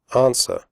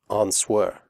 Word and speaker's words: answer: close the door close answer the W sound is silent answer do not say on swear you women the Oh